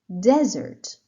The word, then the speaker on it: desert: let's go for nouns desert desert again first syllable desert mountain mountain first